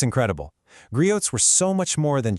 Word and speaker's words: griot: So what exactly is a griot? First off, it's pronounced griot.